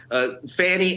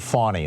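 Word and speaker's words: Fani: Fanny, I'll send you my schedule. I think she pronounces it fawny, like the baby deer.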